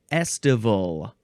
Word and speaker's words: estival: And now we're going to go on to estival. Estival. Estival. It's like festival without the F.